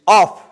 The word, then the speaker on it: of: So, then another preposition, that is of, OF. Correct pronunciation is of. Remember it. There is a difference.